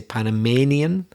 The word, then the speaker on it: Panamanian: Why do we say Panama? But when it's the adjective, we say Panamanian. I don't know. That's stressing the third syllable, Panamanian. We changed the pronunciation of the A as well. So Panama, Panamanian.